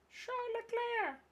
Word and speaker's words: Charles Leclerc: Charles Leclerc. Sorry. Charles Leclerc. That's actually how you say it, because he's Monegasque, which means they speak French.